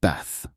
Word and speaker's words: bath: a short a, like bath, rhyming with math. But in British English, especially in the south of England, it's often pronounced ba with a longer, more open a sound, similar to father.